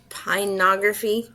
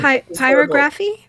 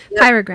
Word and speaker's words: pyrography: Isn't it pinography or something like that? Okay. It's what it's called. I don't ever remember how to pronounce the word. Pyrography. P-Y-R-O. Yeah. Okay. There we go. Pyrography.